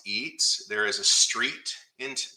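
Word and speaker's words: Etze: at mount pleasant pennsylvania my mom's maiden name is spelled e-t-z-e pronounced eats there is a street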